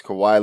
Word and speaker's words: Kawhi: injury report uh the big name of course kawhi leonard and i even pronounced it right so you gotta be proud